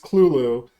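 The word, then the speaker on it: Cthulhu: Yes, it's pronounced clulu.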